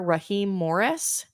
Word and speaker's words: Raheem Morris: They hired the Rams defensive coordinator Raheem Morris as their new head coach. Okay. Yeah. You pronounced it right.